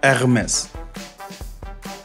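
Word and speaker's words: Hermès: I would say Hermes, but I'm used to pronounce it in the French way, Hermes. Now that was the correct version there.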